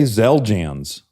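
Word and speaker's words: Xeljanz: And for some reason the X the X is z. It's not Are you sure it's not zel? Okay. Zeljans.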